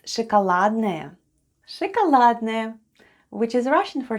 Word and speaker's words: шоколадное: Шоколадное мороженое. Let's spell the word шоколадное. The first sound is sh, then goes o, it's unstressed and is pronounced as a.